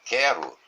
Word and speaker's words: quero: Porque a letra U não é pronunciada.